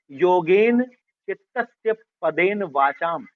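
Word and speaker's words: योगेन चित्तस्य पदेन वाचां: आप नोट कर सकते हैं। उसका उच्चारण सही है। योगेन चितस्य पदेन वाचाम यह मंत्र पतंजलि को समर्पित है।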